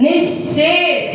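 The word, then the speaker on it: निःशेष: लगा रेसो विसर्ग निया यहां पर विसर्ग क्या बन गया आधा सा तो क्या बोलेंगे निश निश क्या बोलोगे निश आ गई समझ में कि नहीं भूलना मत बोलो निस नि शेष निश शेष नि शेष निर निर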